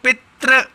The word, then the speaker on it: पितृ: आपको बताता हूं बच्चों जैसे बोलो पित्र या पितृ का होगे तो अंत में री का उच्चारण हो रहा है फिर बोलो रेंडम तो ऋणों